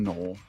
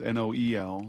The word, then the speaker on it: Noel: It's N O E L. It's not Noel. It's pronounced null.